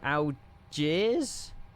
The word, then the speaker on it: Algiers: The S is silent. Algier.